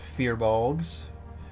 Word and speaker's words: firbolg: Or as some call it, fearbolgs, depending on how they want to pronounce the I.